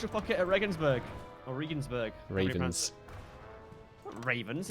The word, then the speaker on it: Regensburg: pocket at Regensburg or Regan's burg revenants Ravens it's got G in it it's pronounced Regensburg i'll Regensburg it in